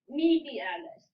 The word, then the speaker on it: medialis: really hard so i understand vastus that's just media alice me alice that was perfect vastus vastus intermedius intermedius beautiful